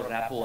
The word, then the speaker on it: rapport: সাথে সৌরভ গাঙ্গুলির ভালো র্যাপো আছে, বাংলার সরি ইংলিশ বানানটা হচ্ছে র্যাপোর্ট, RAPPORT, র্যাপোর্ট, কিন্তু উচ্চারণ হবে র্যাপো, রয়কার পয়কার, র্যাপো মানে কানেকশন, যোগাযোগ।